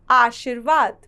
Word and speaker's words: आशीर्वाद: आशीर्वाद, यहाँ बच्चों शब्द है आशी और उसके बाद है वार्ध। यहाँ आशिर के साथ आपको र का उच्चारण सुनाई दे रहा है, लेकिन वे अगले वर्ण के साथ लगती है, इसलिए व के साथ रेफ की मात्रा का इस्तेमाल किया गया है।